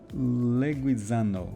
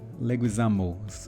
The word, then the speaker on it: Leguizamo: have um Travis Scott, but anyway, uh John Leuisano, Leguisamo, excuse me. Excuse me for my my pronunciate pronunciation also.